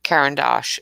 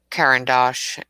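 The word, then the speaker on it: Caran d'Ache: with words um and trying to pronounce the names of things like karen dash i've been calling it all sorts of things that aren't right um you know somebody corrected me again today of karen dosh or karen dash i'll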